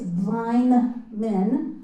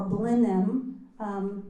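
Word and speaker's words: Blynman: It's Blineman or Blenheim. People in Gloucester have two different ways of pronouncing it. Still can't figure out which one's right.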